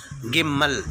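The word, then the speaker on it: גימל: கிம்மல்.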